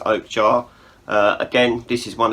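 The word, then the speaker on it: Okja: speaking of Netflix uh they then released Oak jar or ojar but I'm pretty sure it's pronounced Oak jar uh again this is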